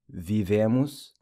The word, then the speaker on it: vivemos: pronounced like an I, vivemos, the O in emos also pronounced like a U, and then vivem, the EM pronounced with the nasal ang sound.